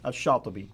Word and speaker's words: Shatibi: Now, how would you pronounce his name? Shatibi.